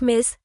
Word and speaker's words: Ms.: For all women, you can also use Ms. Pronounced Miss, Ms.